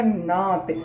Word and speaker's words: gnat: Option number 1 it will be right answer, यानी कि जी क्या होगा यहाँ पर, तो साइलेंट हो जाएगा। तो इसका उच्चारण क्या हो जाएगा, नात। इसका उच्चारण क्या हो जाएगा, नात हो जाएगा।